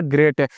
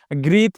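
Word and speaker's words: great: यहाँ पे क्या ग्रेट, जी आर ई ए टी, क्या पढ़ना है, ग्रेट है, ना कि इसे ग्रीत पढ़ना है, क्या पढ़ना है, ग्रेट। इस तरह पढ़ना लिखना है,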